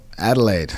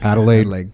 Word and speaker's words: Adelaide: in 1991 where in Australia you grw up Adelaide Adelaide correct pronunciation there as well right on Echo Charles